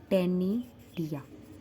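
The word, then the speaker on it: ctenidia: क्या बोलते हैं उनको टेनिया सी साइलेंट होता है टेनी डिया ठीक है दे हैव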